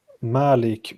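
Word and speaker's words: مالك: bottom what is different Malik means like the owner and Malik means uh King it it's just an an a lengthened a that's what in the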